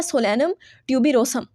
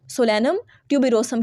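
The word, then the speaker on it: Solanum tuberosum: पसंद भी होते हैं इसका नाम होता है सोलेनम ट्यूब रोसम सोलेनम ट्यूब रोसम क्या एस ओ एल ए एन यू एम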